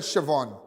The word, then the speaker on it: Siobhan: If you have information about drugs, about guns, and if you have an information about Rogers, now someone said I pronounced her name wrong. They said Siobhan. Yeah. Siobhan Rogers.